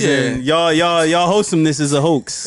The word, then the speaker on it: heaux: Hoax is spelled the French way. Like the tale of Devereaux. Oh. The end of Roe. Like Bordeaux. Yeah.